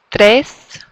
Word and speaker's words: tres: Uno, dos, tres. You can roll that R if you can do it.